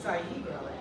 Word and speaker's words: zaigrale: Slavic languages is that every single letter is pronounced. That's a great hint for how to get through a line like istari mladi or pesni zapejale. It's not French. We say all of the letters.